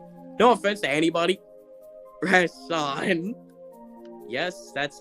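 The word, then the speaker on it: Rashon: Rashan.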